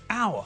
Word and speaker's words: hour: when we pronounce it we don't pronounce the first letter so it sounds as though we're saying a word which begins with a vowel it's exactly the same